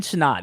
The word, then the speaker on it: Sinnott: Okay, I know it's Sinnott, Sinnott.